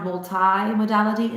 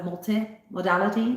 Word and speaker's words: multimodality: I prefer this pronunciation where the I is a long sound, multimodality, instead of multimodality, a short sound.